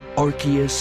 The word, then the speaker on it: Arceus: below arceus's stomach and yes i did just pronounce it that way because it's correct arceus and the jewel of